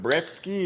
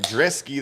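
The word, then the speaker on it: Brzeski: Instead of Brezky, it's like Dresky. That's how I heard Anic pronounce it at the weigh-ins.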